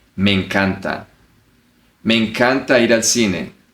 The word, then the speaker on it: me encanta: You don't say me encanta. You connect both words. Me encanta.